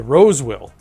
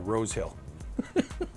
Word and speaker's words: Rosewill: And that's the main reason I went with, and I'm going to say it properly this time, the Rosewill. It's just a slip of the tongue that I keep saying Rosehill.